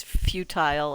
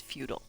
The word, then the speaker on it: futile: I believe there are differing opinions on the pronunciation. But yeah, I think British is futile and American is futile. But Star Trek changed all that because now everybody says futile.